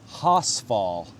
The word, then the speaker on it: Horsfall: This place is pronounced Horsfall. R is silent for some reason.